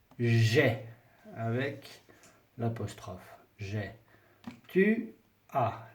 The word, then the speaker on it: as: Tu as. Le S ne se prononce pas.